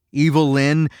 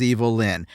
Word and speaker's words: Evil-Lyn: Ram Man and Fisto and Mekaneck, Evil-Lyn, whose name is just a phonetic way to pronounce Evelyn, they're all, quite frankly, pretty dumb, He-Man included.